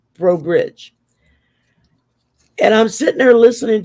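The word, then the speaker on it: Breaux Bridge: And I said, in Cajun French, anything that ends in EAU or EAUX is pronounced O. That's you you know, I said, so it's Bro Bridge.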